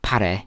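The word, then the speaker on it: Paré: Some people call it par, some people call it par. It's actually par, but you don't have to say it like that.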